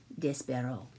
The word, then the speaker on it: Despereaux: the tale of despero now you will notice this barrow is spelled e-a-u-x at the end that is because it is a french word and so the e a u x instead of being is o so it is despero and despero is a